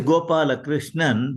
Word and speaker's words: Gopalakrishnan: how do you pronounce it how do you pronounce your your wife's name the whole thing is gopala chrishan but people call me by the first five